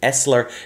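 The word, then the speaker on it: SSLer: inject a malicious software cisco pronounces this one Esler it's spelled SSL er then a second plug-in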